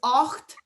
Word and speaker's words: ocht: The number itself is ocht, like octopus. A hocht is because of the two vowels together.